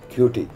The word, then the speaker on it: Kituyi: Evans Kituyi. It's right pronunciation? Kituyi.